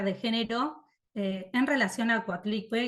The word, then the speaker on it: Coatlicue: si lo pronuncie bien, Coatlicue, una lectura feminista y latinoamericana de ayer y hoy. Bárbara, bienvenida. Perfecto. Bueno, buenas tardes. Sí, lo pronunciaste bien, seguramente yo también lo pronuncie mal, Coatlicue.